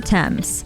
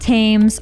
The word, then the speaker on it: Thames: This, for example, is Buckingham Palace, not Buckingham or Buckingham, while this is the River Thames, not Thames or Thames. This is pronounced Leicester Square, while this area is pronounced Greenwich, not Greenwich.